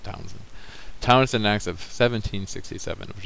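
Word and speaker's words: Townshend: towns and tax it's it's the H is silent you know pronounce that H though it's Townsen Townsen towns andx of 1767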